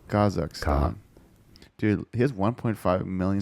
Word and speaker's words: Kazakh: said as Kaz so that's a stress on the first syllable kazak dude he has 1.5